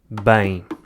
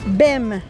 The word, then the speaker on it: bem: Quem não sabe português olha para esta palavra e, logicamente, acha que o S lê E e o M, M. Bem. Mas claro que não é assim tão simples, porque em português o M no final das palavras nunca faz o som M, em vez disso faz um som nasal.